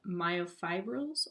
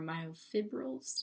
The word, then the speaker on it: myofibrils: contains rod-like structures called myofibrils or myofibrils depending on how you pronounce it the myofibrils can be